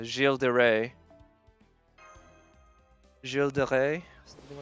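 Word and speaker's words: Gilles de Rais: sometimes by how peop some people pronounce his name because they'll call him like gillis or gill from what i understand his name is pronounced jill jill de rey jill de rey something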